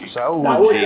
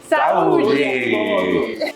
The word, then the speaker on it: Saúde: Saúde. All right. 1, 2, 3. Saúde.